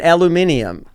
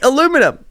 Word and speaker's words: aluminum: well and garage and aluminium say it just say it it's aluminum it's not basil they have an extra eye in the word they really do wait